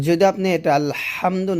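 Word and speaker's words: الْحَمْدُ: যেমন এখানে আছে আলহামদু, এই যে এখানে হা, এটা হলো হলকের মাঝখান থেকে আমরা বলবো আলহামদু, আলহামদু এরকম। তো যদি আপনি এটা আলহামদু না বলে আলহামদু বলেন,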